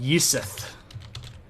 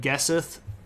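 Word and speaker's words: gesith: Well, G and Y are these weird letters, and they kind of go together, and it doesn't necessarily matter how we would want to pronounce that, like Gesseth or Gesseth or something like that, but it's Yisith.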